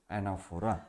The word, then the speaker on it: anaphora: do not yes foreign a n a p h o r a the pronunciation of this word is anaphora the anaphora navachihi figure